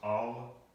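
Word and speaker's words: אל: So again, when we see the word G-O-D, God, we're talking about actually, in Hebrew, this would be the Aleph and the Lamed, and this is pronounced Al.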